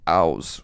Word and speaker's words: Aus: there's a artist named Aus, which is an Icelandic name. It's spelled like house, but there's no H.